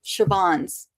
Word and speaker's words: Siobhan: I grew up with Siobhan's, and it's Siobhan.